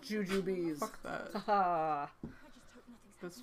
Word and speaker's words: Jujubes: Look, it's pronounced Jujubes.